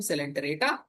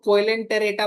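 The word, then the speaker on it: Coelenterata: Phylum सेलेंटरेटा and phylum Ctenophora. ये सी silent, ठीक है। इसको कोइलेंटेरेटा मत पढ़ना, ये क्या है? सिलेंटेरेटा, सिलेंटेरेटा, okay.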